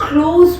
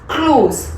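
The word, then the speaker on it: close: और उस टाइम पे जो आप प्रोनाउंशिएट करेंगे आप क्लोज बोलेंगे, इट्स क्लोज, कम सिट क्लोज टू मी. जी पे फोकस नहीं आएगा, आपका एस पे फोकस आएगा. तभी मैंने लिखा है KLOUS, इट्स क्लोज.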